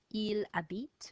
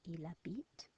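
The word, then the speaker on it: il habite: to say it lives eel a beat remember the H is silent ela beat the desert live in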